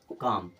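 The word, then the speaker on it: calm: लिए देख लीजिएगा सी ए एल एम ए के पहले एल आ गया तो एल गया अब क्या पढ़ेंगे इसे काम क्या पढ़ेंगे काम एल के बाद m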